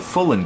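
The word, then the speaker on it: Voulund: One in particular from a company called Fullen Gear, spelled with a V. It's V-O-U-L-U-N-D, Gearworks, and they did a good job.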